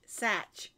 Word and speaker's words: Sach: and i'll say sarah sach and they'll say how do you spell that and i'll say and they're like no no your last name i'm like oh s-a-c-h satch like patch i don't know why